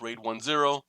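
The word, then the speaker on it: RAID 1+0: slow ray 10 a raid 1 plus 0 pronounced raid 1-0 combination of raid and arrayed a raid 1 and a raid 0.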